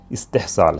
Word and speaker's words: استحصال: इसका उच्चारण आपने देख लिया होगा हिंदी और इंग्लिश में जो हमने लिखा है इंग्लिश स्पेलिंग के साथ, तो उससे अंदाज़ा हो गया होगा इसका जो उच्चारण तलफ़ुज़ है इस्तेहसाल है।